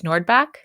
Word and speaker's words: Nordbak: Wait, before I do, pronunciation of your last name is Nordbak? Yep. Just like it looks?